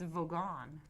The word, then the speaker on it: Vogon: annoy the vogans yeah I know this is pronounced not Bogan like Volkswagen it's vogon like Volkswagen Volkswagen yes we just laid some